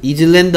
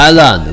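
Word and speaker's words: island: 되겠죠 티 정 쓰겠죠 얘는 이즈랜드 아니고요 아이슬랜드 아니고요 발음이 뭐라고요 아 아일란 그 누가 소리 안나요 s s 소리 안 나죠 이어 읽을까요 아일드 아일란드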